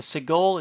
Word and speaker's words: segol: The segol is a short E sound, the E as in English bet. Secondly, you can have a tsere.